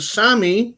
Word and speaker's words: Sami: It's pronounced Sami. Yeah, Sami, I'm sorry.